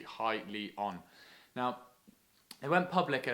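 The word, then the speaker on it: Hyliion: quite like this one now highly on how it's pronounced you can see here on the website i did have to double check that because i thought it was hilly on for ages but it's actually highly on now they went public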